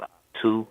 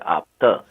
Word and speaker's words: Optu: It's, So my name is Opta, like the word optimistic or okay, whatever. I don't use the U at the end as a vowel. Like it okay, look like it's pronounced Optu, but I right, pronounce it Opta.